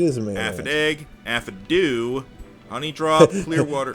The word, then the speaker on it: aphid: I believe aphid dew is just a combination of an egg and honey together. Can I ask why you pronounce it aphid? Or it is aphid. It's aphid? Correct.